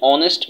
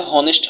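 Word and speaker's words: honest: যেমন দেখো, এখানে বলা হয়েছে যে অ্যান অনেস্ট ম্যান, অ্যান অনেস্ট, এই যে এইচ এর উচ্চারণ তাহলে হনেস্ট হওয়ার কথা, কিন্তু হনেস্ট হয় নাই, অনেস্ট হয়েছে।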